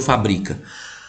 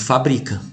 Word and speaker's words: fabrica: Você leu fábrica ou você leu fabrica? Tá escrito fabrica. Agora, se eu colocar o acento, aí virou fábrica.